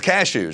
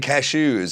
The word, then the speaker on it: cashews: It's cashews, Well, right? look at the raccoons eating cashews. I got a ton of shit for saying cashews in a special. Yeah, you hit the accent on the wrong spot.